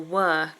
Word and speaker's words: we're: We're is pronounced as where or were. So Felipe, we're, as in we are, is we're, schwa sound.